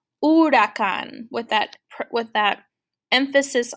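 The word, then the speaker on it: huracán: h there well espanol i don't pronounce the h the h is silent so instead of saying i would say urakan with that with that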